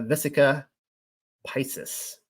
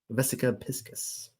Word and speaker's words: Vesica Piscis: here we see a vis pises I told you I was going to pronounce it wrong should be piscus VES piscus specifically the number 153